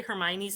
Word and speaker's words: Hermione: One, having never had to say Hermione's name out loud, I never tried to pronounce it.